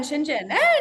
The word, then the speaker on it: Shenzhen: you in shinen shinen yeah yeah yeah in shinen you pronounced it right yeah we tried we tried